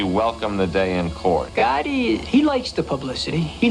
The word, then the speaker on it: Gotti: Someone took me on the side that night and said, listen, remembered his name, John Gaggi. He didn't even say it right. He didn't say Gotti. He said, John Gaggi.